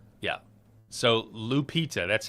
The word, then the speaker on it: Lupita: So, Lupita, that's how you say her name.